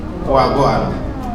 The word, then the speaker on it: Wagwan: So who actually pronounced the N was the last girl. Wagwan.